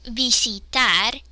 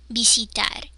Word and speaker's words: visitar: But in Spanish, visitar, E. My cheek muscles are tense. Visitar, E. So you should be able to feel the difference between visit and visitar.